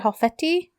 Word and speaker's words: Halfeti: Halfeti?